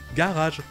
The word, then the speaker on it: garage: Et les Anglais au Royaume-Uni ont décidé de garder la première syllabe. Ga. C'est celle-là qui sera accentuée, donc elle va garder le joli son en français. Ga. Et ça veut dire que la deuxième syllabe est non accentuée.